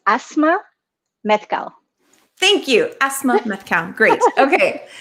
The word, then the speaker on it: Asmaa: what is i want to make sure i'm pronouncing your name correctly sure it's asthma thank you asthma great okay thank you for